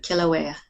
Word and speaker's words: Kilauea: Kilauea? Kilauea. Kilauea. Okay. Kilauea, yes. It's a Hawaiian word.